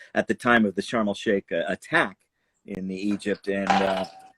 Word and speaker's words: Sharm el Sheikh: Sharm el Sheikh, right? That how we say Yeah, it? Sharm el Sheikh.